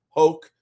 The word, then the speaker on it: Hoke: to have uh Brian Hoke rhymes with Coke he told me uh